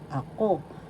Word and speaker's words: ako: Tagalog panghalip kaibahan difference of ako I me first syllable a second syllable ako the accent is in the second syllable so you pronounce this or because O, I or me ko.